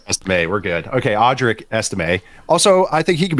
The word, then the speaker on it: Estime: Also, I want to double check how you say his name. Also, so this is for me, one for you. Audric Estime. Estime, yeah. Audric Estime. Estime. Okay, we're good. Yeah, you got it.